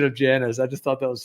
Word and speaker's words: Janus: tell you in a very funny joking way j-a-n-u-s is actually pronounced janus uh china's you remember when gregory